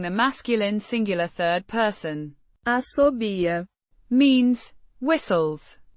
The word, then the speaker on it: assobia: Asobia means whistles pronounced with a clear a sound in the beginning and a stressed b sound.